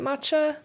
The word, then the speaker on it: matcha: matcha would become Mata you're still supposed to pronounce it matcha but we don't know that because we when you glance at it it looks at first glance to be MAA but it's supposed to be matcha yeah so then you're just